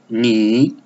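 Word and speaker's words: 你: In Chinese, Ni. Ni. The tone is the third tone on the above I.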